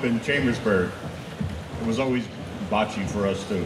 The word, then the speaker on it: bocce: Bo that is not aachi that is a Bo Che because in Italian the C is C pronounce cck Bachi CI CH so um we